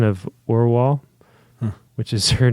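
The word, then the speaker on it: Orual: a proper pronunciation of Orwell, which is her name. Orwell? Is that how you say it? Orwell. Orwell. Like just the W. Orwell. Like or from the ground and wall.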